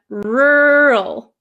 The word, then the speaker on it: rural: they don't so the first one rural my mouth barely moves it gets tight for the r r the second word